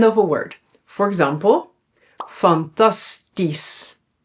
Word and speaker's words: fantastisch: Yeah, we pronounce it as is. So here we don't say that's only when it's at the end of a word. For example, fantastisch. fantastisch and logisch.